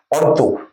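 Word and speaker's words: Antu: গেছেন যে এই ডিসপিউটটাকে ইংরেজরা বলছে অন টু ডিসপুট অন্তু নেপালিরা উচ্চারণ করে অন্তু ডবল এনটি ডবল আচ্ছা অন্তু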